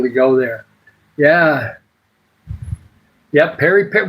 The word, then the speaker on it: peri peri: Yep, peri peri. Well, it's actually spelled with an E. P-E-R-I. P-E-R-I. But it's okay. Either way, it sounds the same, so it's fine.